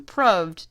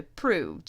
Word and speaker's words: proved: The pronunciation of proved has changed in the last 400 years, from proved to proved, so proved and loved do rhyme. There's actually a lot of